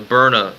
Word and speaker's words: Byrna: It's pronounced Iron Man B-Y-R-N-A. Byrna. Byrna, it's pronounced. It's pronounced B-I-R-N-Y.